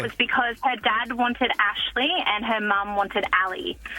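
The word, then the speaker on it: Ashaley: Oh, Ashley. Ashley. And her parents, I did ask because I was curious as to how they formulated this fusion. And it was because her dad wanted Ashley and her mum wanted Ali.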